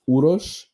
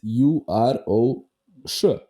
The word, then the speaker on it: Uroš: So like my name is Uroš, that's Uroš. There are no Yeah, which is the S with the accent.